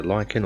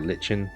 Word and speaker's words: lichen: to the bottom of the lichen or lichen depending on how you want to pronounce it and so bit